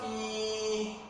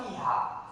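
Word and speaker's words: fīhā: Ada yang baca fi, salah. Dia punya matnya a, berhentinya dipendekkan sedikit. Bacanya tetap fiha. Fiha apa ayatnya? Coba Bang Akbar cari, Bang Akbar sendiri cari. Tentang yang ayatnya ada fiha. Jadi berhentinya Bang Isan tetap fiha. Fiha bukan fi.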